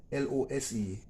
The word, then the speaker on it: lose: not firmly in place while l-o-s-e is lose loose and loose if you notice there's a slight difference in the pronunciation are almost the same